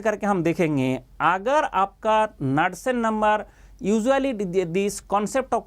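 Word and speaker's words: Knudsen: Known as नाडसन number, KNUD, यहाँ पे के प्रोनाउंसिएशन नहीं होगा, नाडसन नंबर, ये होता है आपका लैम्डा डिवाइड बाई L।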